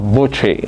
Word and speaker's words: Botchway: So Botchway is the anglicized version of Butchie, and I know that's